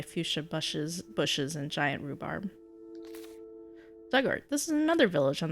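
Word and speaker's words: Dugort: Pronunciation dug like the past tense of dig, ort rhymes with hurt. Diggart. Duggart.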